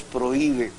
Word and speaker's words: prohíbe: se prohíbe fumar aquí pero es prohíbe inclusive rompiendo el diptongo que hay entre la vocal fuerte la o y la i porque la H Repito no tiene sonido alguno está ahí por razones históricas pero la otra está